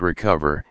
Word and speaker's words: Recuva: Recuva, pronounced Recover, is a freeware Windows utility to restore files that have been accidentally deleted from your computer.